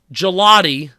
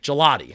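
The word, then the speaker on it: Gillotte: to guess 23 yes it's pronounced like the ice cream like gelotti I believe it is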